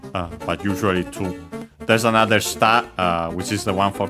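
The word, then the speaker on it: 下: That one is accent on the syllable. This one is an accented and it means the opposite of ue.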